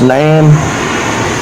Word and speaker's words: naan: It's this shit called it's NAAN. I guess it's pronounced Nan, but it's like some type of Indian flatbread.